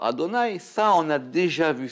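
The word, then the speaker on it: אדני: Pourquoi est-ce qu'on prononce aussi le nom Yud Kevavke, qui s'écrit Yud Kevavke, et on le prononce aussi par Adonai?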